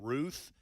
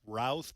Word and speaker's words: Routh: The suspect has been identified as Ryan Ruth. Some in the media are pronouncing it Routh, but I think as things unfold, he is in court.